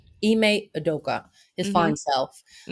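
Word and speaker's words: Ime Udoka: Uh, Eime Odoka. Eay Odoka.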